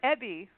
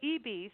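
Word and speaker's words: Ebey: Is it Eebee or Ebbie? I don't want to get it wrong. It's pronounced Eebee. I know it's hard to tell from the spelling, but they pronounce it Eebee.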